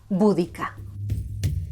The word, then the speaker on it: Boudica: esposa, una mujer llamada Boudica, o según la pronunciación inglesa, Boudica.